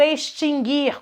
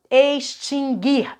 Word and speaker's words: extinguir: O verbo em questão é o verbo extinguir. Cuidado, extinguir e não extinguir. Falamos sobre isso na sala de aula, né? Nunca teve trema nesse verbo, pelo amor de Deus, hein? Esse U nunca foi pronunciado.